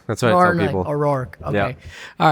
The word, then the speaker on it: O'Rourke: pronounced your last name oror oror oror you're very close I'm asking everybody about their last name roar like a lion that's what I people oror okay all right cool